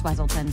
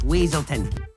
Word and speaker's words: Weaselton: you going to do with those night howlers Weselton it's weaselton a great crossover joke between the films for